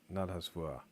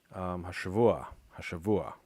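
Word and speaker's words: השבוע: I'm going to say the a in there, not hasvua. Got it. Putting the accent on the wrong syllable.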